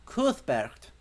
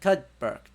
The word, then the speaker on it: Cuthbert: Cause it should be Cuthbert. Not Cudbert.